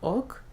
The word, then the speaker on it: hoc: Note again the silent H on hoc.